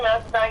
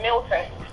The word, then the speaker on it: Melton: Oh, well, you didn't say Melton, you said Milton. It's with an E.